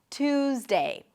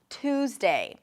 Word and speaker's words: Tuesday: So it feels like there is a little H right after the T. Two, two. Tuesday, Tuesday. I'll see you on Tuesday. Now here's something interesting to notice. When you pronounce a T sound and then a Y sound, what happens to the T is that it changes a little bit and becomes a ch sound, like a T and a sh sound.